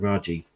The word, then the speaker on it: Raji: Yeah, I think it is Raji. Yeah.